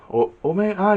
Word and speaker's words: Omega: Omega. Yeah, that's how you pronounce it.